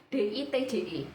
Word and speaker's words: Ditje: pakai ejaan lama ya bukan dce tapi di tje karena memang Kejadian ini terjadi di tahun 1980-an buat kalian yang merasa asing